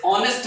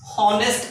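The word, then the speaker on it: honest: mister Sharma is देस ऑनेस्ट man eighty H होची हॉनेस्ट आमे पढुनु हॉनेस्ट नहीं एटी होची ऑनेस्ट एटी एच आमे साइलेंट रोची तो ऑनेस्ट थिबारो ओ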